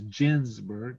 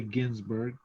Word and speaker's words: Ginsburg: judge uh judge uh ginsburg is actually her name this that's the proper way to pronounce it is ginsburg not ginsburg but a lot of people say ginsberg but that's how it